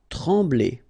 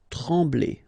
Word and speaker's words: trembler: Trembler. Okay, same thing here. Nasal, EM, okay. En. Trembler. Okay, no pronunciation of the M. Trembler.